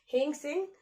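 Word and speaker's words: Hiuen Tsang: और हेंग सेंग जो चाइनीज क्या थे, ट्रेवलर थे, ये भी इन्हीं के टाइम में आए थे, नरसिंहवर्मन 1 के टाइम में। हेंग सेंग, ठीक है, टी साइलेंट है, हेंग सेंग।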